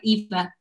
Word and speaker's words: Eva: Is it Ava or Eva? I know, I feel like I'm pronouncing it wrong. No, you got it right, Eva.